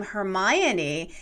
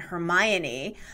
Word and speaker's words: Hermione: how are you pronouncing hermione hermione no it's hermione it's not hermione okay all right hermione it's a four-syllable name in the show it's